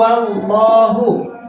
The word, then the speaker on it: الله: contohnya di indonesia kulhu allohu contohnya kulhu allohu hulk wow wow wow itu ya maka cara bacanya full wow wow ungu allah kalimat-kalimat sebelumnya sebelumnya bernafas farhan farhan cara bacanya harus tafkhim atau tebal allohu kulhuallahu wow nah